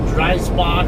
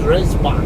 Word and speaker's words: Dreisbach: spot or whatever but if you pronounce it the proper german way it should be gray spot in german like a lot of other languages the vowels are only uh pronounced uh one way so e's are usually pronounced like a and then eyes are only pronounced like b so great great spot look that up and